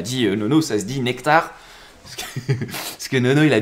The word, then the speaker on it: NCT: lion le token NCT qui se dit nectar merci à CEM qui m'a dit Nono ça se dit nectar parce que Nono il